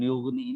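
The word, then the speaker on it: يغني: Nah, saya ulangi lagi ya, di bagian yughni ini ghain sukun jangan ada pantilan suara. Yughni, keliru ya, dialirkan saja.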